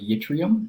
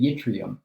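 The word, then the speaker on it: yttrium: us i don't know the charge on the yitrium but i do know the charge on s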